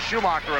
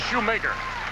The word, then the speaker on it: Schumacher: I may have pronounced it Schumacher a few times, and hope you'll forgive me because it spells Schumacher, but the girls pronounce it Shoemaker.